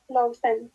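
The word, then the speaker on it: laufen: যেটা দেখতে পাচ্ছি লাউফেন মানে হচ্ছে দৌড়ানো কে উচ্চারণ করতেছেন এটা কানে মাপার চেষ্টা করে দেখেন তো এল আউ এফ এ এন লাউফেন লাউফেন মানে কি দৌড়ানো দৌড়ানো কেন দৌড়ানো লাউফেন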